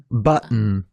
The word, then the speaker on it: button: What happens is that the t sound becomes a glottle t before a weak syllable ending with button.